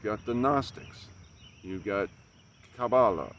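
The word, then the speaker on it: kabbalah: the gnostics you've got cabala or cabala as it's pronounced there are many different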